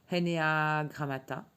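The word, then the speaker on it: ἐννέα γράμματα: On le prononce Henea grammata, et cela signifie, selon le contexte, quelque chose comme 9 signes ou 9 chiffres.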